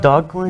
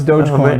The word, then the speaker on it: Dogecoin: Dogcoin? No, it's Dogecoin.